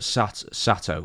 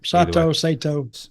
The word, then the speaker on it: Sato: Either way, Sato. Yeah. I think it's Sato. It probably is Sato because just how Japanese pronounce it. Because they flatten out their vowels.